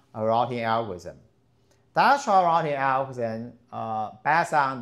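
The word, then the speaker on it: Dijkstra: So dashra routing algorithm dashra routing algorithm uh pass on the link st to have the routing algorithm.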